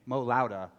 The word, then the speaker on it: Mo Lowda: I'm actually introducing you, and there has been, again, debate about how to pronounce the band's name correctly. I've been saying Mo Lowda, like It's turn Mo it up Lowda.